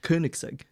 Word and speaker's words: Koenigsegg: example like the company Koenigsegg or you probably don't say it like that do you how do you pronounce how are you supposed to pronounce it yeah Koenigsegg okay yeah but there's